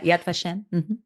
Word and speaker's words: Yad Vashem: Israel I went to the Holocaust Museum the Yad vashem am I saying it right yeah Yad vashem um and there was a lot of talk